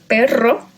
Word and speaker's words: perro: But we also find it with two R's, perro, and ferrocarril, or ronronear, okay? It's always pronounced strong because it's at the beginning or in the middle with double R.